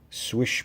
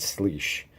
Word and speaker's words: Slysz: swish buoy clone and yes I said swish not sleek happened to watch a video that is from Spyderco and apparently the way it's spelled is not the way it said it said swish so but let's go